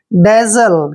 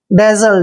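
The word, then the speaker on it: dazzle: जड एल ई देखिए डी का उच्चारण हम ड करेंगे ए को ए की मात्रा पढ़ते हैं डबल जड का उच्चारण यहां पर ज करेंगे और एल ई को हमने ल पढ़ना है डेजल क्या पढ़ेंगे इसको डेजल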